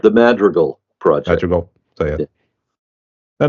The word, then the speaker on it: Madrigal: too but you can slap me if I pronounce it wrong the M go project that pretty good it's actually pronounced the madreal project madal so yeah I know it sound